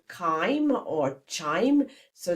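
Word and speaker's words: chyme: Then what leaves the stomach is called kimeim or chime. So it's spelled C H Y M E.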